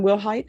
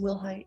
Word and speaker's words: Wilhight: And are you Megan Wilhight? Yes, ma'am. Am I pronouncing your last name correctly? Yes, ma'am. Will height?